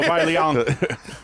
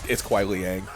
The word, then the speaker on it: Kuai Liang: No, Kuai Liang. Chill out. It's Liang. It's Kuai Liang.